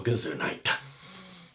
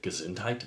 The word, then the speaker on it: Gesundheit: evaded the entire covert pandemic with a simple Gazoo night is that how you say it Gesundheit gazuntite bless you congresswoman green is a perfect example